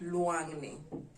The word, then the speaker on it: luangni: luau we'd call it luangni so how do we write it out we write it or spell it we write it as l u a n g n i luangni luangni so if you